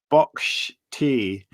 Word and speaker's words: boxty: it's an irish thing boxty pronounced box tea boxed here is potato